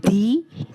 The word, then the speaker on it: the: আকতমালোকরভাবে একটা নতুন ভিডিও লয়ে আসিছো ইউজ অফ দি টি এইচ ইডি এন্ড টি এইচই দাদা তার মানে তার স্পেলিং বা বানানোর কোন তোমারলোকে পার্থক্য দেখিছে না ইয়াটুটি এইচই আছে ইয়াটুটি এইচ আছে কিন্তু